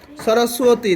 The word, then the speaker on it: সরস্বতী: ও উচ্চারণ করতে হবে না? এই আওয়াজ করি না তোমরা। সরস্বতী, তাই না?